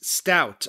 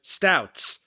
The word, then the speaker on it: Stout: The fan-favorite pregame bar for shows at MSG is Stout on 33rd Street. Adam pronounced it as Stouts.